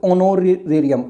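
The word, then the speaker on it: honorarium: अब देखो ऑनोरेरियम, ऑनोरेरियम, देखो एच साइलेंट हो गया, ऑनोरेरियम तो ओ की साउंड आई, एन।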